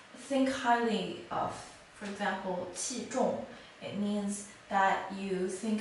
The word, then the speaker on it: 器: This character is pronounced as 器, 器.